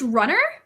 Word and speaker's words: RUN/r: I think it's pronounced Runner. RUN/R.